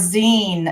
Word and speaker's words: zine: that it looks beautiful you said and it's pronounce Zen okay like right like magazine Zen oh okay